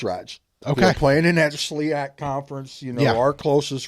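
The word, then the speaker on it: SLIAC: of long bus rides okay playing in that slak conference you know our closest road opponent 4 and a half hours away and only team from Kentucky and the is it the slak is that Sak is how they say it okay only team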